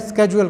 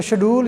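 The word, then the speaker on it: schedule: उनके लिए ईजी है स्केड्यूल कहना। तो शेड्यूल या स्केड्यूल दोनों ठीक है, क्योंकि मैंने पहले भी आपको बताया कि 3 तरह की इंग्लिश है दुनिया में।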